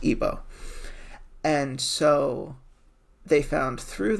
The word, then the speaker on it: Igbo: It's pronounced Igbo.